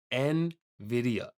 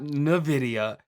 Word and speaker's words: NVIDIA: to say it correctly it's n video nvidia not nvidia and video nvidia oh my